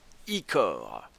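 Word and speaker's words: ichor: peux le d'ichoir magique ça se prononce ICOR choisis ton ICOR judicieusement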